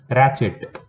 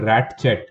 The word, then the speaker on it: ratchet: Ratchet, this is not ratchet, okay, it is ratchet, T is silent.